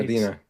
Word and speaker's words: Medina: Did I pronounce that right? Medina.